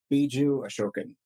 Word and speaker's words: Biju Ashokan: thanks for having me how do I do on pronouncing your name beu asoken you said it right I got it pretty